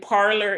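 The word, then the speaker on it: Parler: the red one and parlor is spelled p-a-r-l-e-r and not o-r and so you actually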